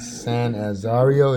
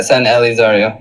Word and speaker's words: San Elizario: the what is it, San Azario? Is that how you say it? Yeah, San Elizario, or you just San call it San Eli.